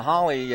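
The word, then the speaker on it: Halle: Yeah, Holly as it's spelled. Looks like Hale though, H-A-L-L-E, from Santa Ana, California, out of Foothill High School, a junior, and first pitch is ball 1.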